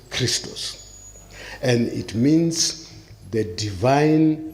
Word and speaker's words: Christos: Expiate in Greek is expi-ichtoch, and it is pronounced Christos.